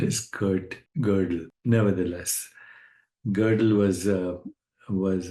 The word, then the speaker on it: Gödel: g o d e l so some people pronounce his name godell but I think the correct pronunciation is Kurt gerle nevertheless girdle was a was a Hungarian Austrian